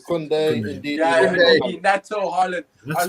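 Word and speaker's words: Koundé: I can't even pronounce. Is it Kunde? Kunde, indeed.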